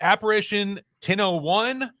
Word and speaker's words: Apparition 10:01: the radio show um is it Apparition 101 or do you pronounce it some some way else nope that's exactly right okay and then pronounce